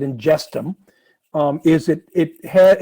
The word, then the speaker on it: Ingestum: what what inges is you pronounce it ingum um is it it